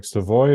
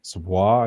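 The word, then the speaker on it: Savoie: Like Seavoy is Seavoy is a Savois, I think, is actually technically the the right way to say it.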